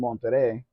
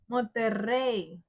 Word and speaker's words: Monterrey: You're still mispronouncing that word. What word? Monterrey. I know there's two R's. Then why did you say with two R's?